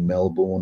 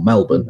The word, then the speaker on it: Melbourne: Found out, like you say, about the stuff about nuking Melbourne and all the rest of it, or Melbourne, as it should be called, because that's how it's pronounced by the locals.